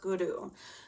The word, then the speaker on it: Guru: But in Sanskrit and when you're doing these meditations, all R's have a D on them. So it's pronounced Guru. So it's Ong, Namo, Guru, Dev, which is pronounced D-E-V, and then Namo.